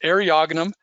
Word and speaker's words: Eriogonum: you say and and that is arionum is how you say the genus name areogenum sespatosa sespatos means